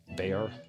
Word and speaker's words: Bexar: The Bear, which is spelled Bexar, by the way, the Bear slip joint, and this one, the Rockwall, not Rockwell, Rockwall.